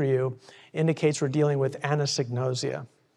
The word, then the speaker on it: anosognosia: indicates we're dealing with anosognosia. It's a tongue twister. If you want to learn how to say it, I use this trick. A woman named Anne knows egg. Nosia, anosognosia.